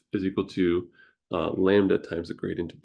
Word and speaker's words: lambda: This is called, this is a Greek letter, lambda, pronounced like the baby sheep, and then duh. So like duh, baby sheep, lambda.